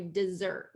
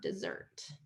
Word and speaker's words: dessert: So when there's two S's, we're going to do dessert, second syllable stress, just like this one, dessert.